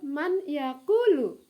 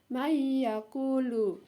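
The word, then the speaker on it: مَنْ يَقُولُ: Nah, nomor 1 ya, tertulis di situ man yakulu. Bacanya mayakulu. Ya, huruf nun ya dimasukkan ke dalam huruf ya, ke dalam huruf berikutnya. Mayakulu.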